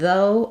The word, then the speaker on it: though: a y and do and though um have uh basically a kind of strange spelling where the GH is silent and the OU just says the O diphthong so um you can think